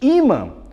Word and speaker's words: ímã: Imã. Ó, chama o imã no portão. Imã. 2 sílabas. A penúltima é a mais forte.